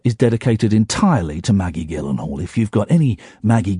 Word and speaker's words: Gyllenhaal: And that woman is Maggie Gyllenhaal. Hi, Chihuahua! What a lady! What a woman! And I respect her so much that I'm saying the hard G. It's a hard G.